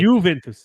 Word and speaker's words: Juventus: and my Juventus fan I found out how to say it correctly don't say the J Juventus is Juventus ah Juventus so there is an